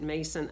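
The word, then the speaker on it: Mnason: it is spelled in the scripture and a pronounce it Mason of Cyprus who was an early disciples disciple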